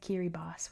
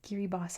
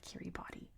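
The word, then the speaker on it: Kiribati: Same with kiri boss which yako forgets. Kiri boss has an i at the end. It's pronounced as an s.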